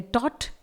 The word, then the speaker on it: taught: इसके बाद GHT वाला एक और वर्ड है जो कि है टॉट, TAUGHT। इसमें भी लास्ट में GHT भले आया हुआ है लेकिन GH ही केवल साइलेंट रहेगा, T को यहां प्रोनाउंस किया जाएगा।